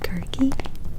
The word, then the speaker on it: Circe: I actually found out doing this video that in Greek is pronounced Kirke, which blew my mind.